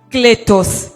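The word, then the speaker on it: κλητός: Et en grec, on me dit que le mot appel ou appeler signifie kletos, qui s'écrit K-L-E-T-O-S, kletos, ce qui signifie invité ou encore nommé.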